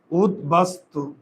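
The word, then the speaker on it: উদ্বাস্তু: দন্তস্য তালব্য হয় নাই কারণ ত বর্গের বর্ণ উদবাস্তু কারণ এখানে দ এর সঙ্গে যে অদ অ এর উচ্চারণ হয় না স অ এর উচ্চারণ হয়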